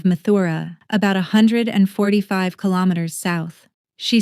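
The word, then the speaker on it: Mathura: She said her real home was in Mutra, the local pronunciation of Mthura, about 145 km south.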